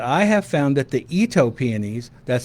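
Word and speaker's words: Itoh: If you have a little shadier spot, I have found that the Eto pianies, that's spelled I T O H, um, that's a series of new peies that are out there.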